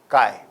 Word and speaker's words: chi: as chi square where chi is a greek latter and i am sure you know it can be pronounced as chi properties of the sky